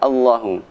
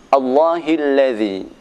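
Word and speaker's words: الله: Maka jika tidak hati-hati kita akan membaca salah Allahu. Yaitu terdapat dalam surat Ibrahim ayat kedua, Allahilladzi.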